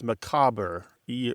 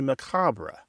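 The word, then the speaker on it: macabre: had changed it to macabra. So even the word itself is not stable. It's the common pronunciation is growing more French as people sound try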